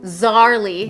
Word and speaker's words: Szarley: Szarley, yep. The S is silent, but that's like a pretty fun fact to begin with.